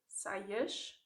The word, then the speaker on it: saias: But then if it comes at the end of a word, saias, then you have a sh sound instead.